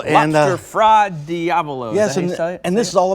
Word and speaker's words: fra diavolo: Lobster fra diavolo. Lobster fra diavolo.